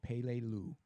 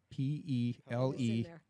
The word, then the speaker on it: Peleliu: The island was called Peleliu, P-E-L-E-L-I-U.